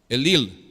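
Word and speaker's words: אליל: escrito el antiguo testamento es la palabra el lille el lille en el hebreo así se pronuncia el lille y sabes qué quiere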